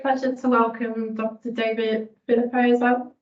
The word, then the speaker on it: Phillippo: David Phillippo.